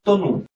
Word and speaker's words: তনু: তারপরে এরকম আবার এই উ ধ্বনি থাকলেও হয়, যেমন আমি একটা শব্দ লিখি তনু, তনু উ ধ্বনি, তখন তনুটার উচ্চারণ হবে হলো তো নু, তনু উচ্চারণ হলো তনু।